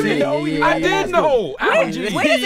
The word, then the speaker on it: Algee: He said Algee. Is that the way? No, it's Algee. Exactly. You didn't know. I did know. Algee. Where does the name Algee? Where does the name Algee come from?